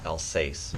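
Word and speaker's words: Alsace: check out the upstairs we found out the pronounce pronunciation of the it's elace France is where all this stuff come from Elsa France and their elans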